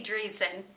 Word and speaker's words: Driessen: with the um Grammy nominated it's true dreon he is did I pronounce that correct did very good he's an